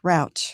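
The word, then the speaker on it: Rauch: It sounds like couch. Rouch.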